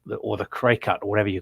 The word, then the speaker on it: Cricut: to mention is the cricket, or the cray cut, or whatever you call it. It's have you seen those things, Steve? The which? Sorry. It's called a cricket, or it's spelled cry cut, CRICUT.